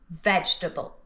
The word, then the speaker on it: vegetable: First word, vegetable. 3 syllables, veg-ta-ble, vegetable, vegetable.